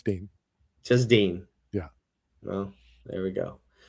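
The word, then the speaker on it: Din: No, his name's Dean. Oh, is it Dean? Why did I think it was Den? Because it's spelled Den. It's spelled D-I-N, but his name is Dean.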